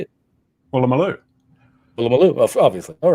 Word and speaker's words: Woolloomooloo: Woolloomooloo.